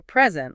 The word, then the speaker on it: present: Okay, so a present, like a gift, has the emphasis on the first syllable. Right, but if you're formally giving something or showing something, you present it with the emphasis on the second syllable.